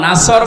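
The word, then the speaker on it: نصر: নুন সোয়াদ র, নাসর মানে সাহায্য, আর নুন সিন র, নাসর মানে ঈগল পাখি। এই জন্য তেলাওয়াত যখন করবেন সোয়াদ উচ্চারণটা মুখ গোল করা লাগে।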